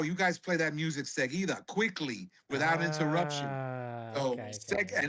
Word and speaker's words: Seguida: Yeah, there seguida. you go.